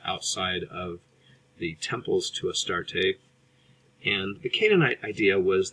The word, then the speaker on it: Astarte: His consort, his girlfriend, is Astarte, sometimes pronounced Ashtarte, or a variation of Ishtar.